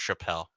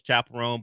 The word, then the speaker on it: Chappell: But I also thought it was pronounced Chappelle. Yeah, we were trying to figure out how to pronounce it. I think I knew it was Chapelone, but we weren't ex exactly sure. Feels like it should be Chappelle.